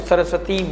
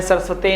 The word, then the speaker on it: सरस्वती: में बैठा है, तो सरस्वती मंत्र का, गायत्री मंत्र का जाप करते रहें। ओम एन सरस्वते नमः, ओम एन सरस्वते नमः, उच्चारण सरस्वती होना चाहिए, सरस्वती नहीं।